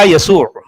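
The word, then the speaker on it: يسوع: یعنی سریانی حروف ہجا کو جوڑ کر لکھا تو جائے گا محمد، جبکہ اس بنت کا تلفظ کیا جائے گا یسوع۔ آپ سمجھ رہے ہیں؟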